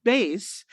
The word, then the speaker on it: Beis: Right now, Base, we're pronouncing it Base, but it's spelled differently.